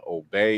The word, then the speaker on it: Obey: my name is last name is OB even though it's spelled obey is a little kind of confusing um but I write